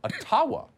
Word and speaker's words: Ottawa: and we're gonna let the mayor of ottawa or atawa as it's correctly pronounced in the gibboa explain why peaceful